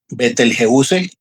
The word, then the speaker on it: Betelgeuse: Betelgeuse, así es como se pronuncia en español, significa el brazo del cazador.